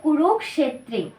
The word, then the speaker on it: কুরুক্ষেত্রে: কি হবে ধর্মক ক্ষেত্রে অনুরূপ এই উচ্চারণটাও সেরকমই হবে কুরুক্ষেত্রে আপনারা এখানে দেখুন উচ্চারণটা কিরকম হয় কুরুক্ষেত্রে তাহলে এর পুরো উচ্চারণটা কি হলো সংস্কৃত ভাবে ধর্মক্ষেত্রে কুরুক্ষেত্রে তো এখানে আছে সমবেতা আমরা